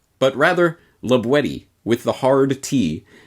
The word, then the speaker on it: La Boétie: as might be thought la boyce but rather labuetti with the hard tea as it was pronounced in the perigord dialect of the region in which libwedi lived